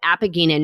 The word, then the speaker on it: apigenin: So one plant compound in celery is called, and Liana, tell me if I'm pronouncing this wrong, apigenin?